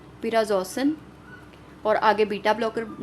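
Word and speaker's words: prazosin: इसको हमने प्रोनाउंस ऐसे करना है पिराजोसिन, पिराजोसिन।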